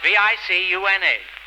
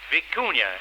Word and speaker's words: vicuña: Spelled V-I-C-U-N-A. Vicuña, it's pronounced.